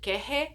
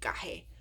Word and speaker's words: kehe: They say it, it's kind of varying pronunciation in the movie. Sometimes they say kehe, and other times they say gahe. What's weird about gahe is it's like that's actually a soft K.